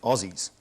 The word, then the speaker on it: Aussies: No, well, even though it's written with an S, we pronounce it with a Z, and we pronounce it Aussies. So Aussies.